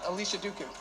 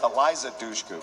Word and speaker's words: Eliza Dushku: It's Alicia Duku. Am I pronouncing that right? I'm not going to give you Alicia Duku. It's Eliza Dushku.